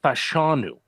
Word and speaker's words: Fashanu: Jeff Jeff hold on uh how about you pronounce a last name for me the people want to hear it I think it's fashanu good there you go because I saw more